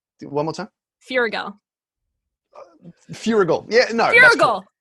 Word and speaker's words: Feuerriegel: The wonderful, super talented Dan Feuerriegel is here, and I know I pronounced that right.